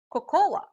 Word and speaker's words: cocoa: you say we usually hear people say or cocoa but it should be pronounced as coco for example the recipe calls